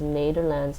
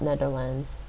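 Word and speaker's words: Nederland: not netherlands nato lands you want to say this as nader lands not netherlands um i think it's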